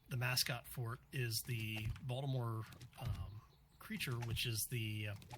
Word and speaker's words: Baltimore: with people from Baltimore we don't actually pronounce the T in the word balore Balmer it's it's a running